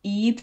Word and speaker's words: Ib: But a while ago I did play Eep, so it's spelled IB.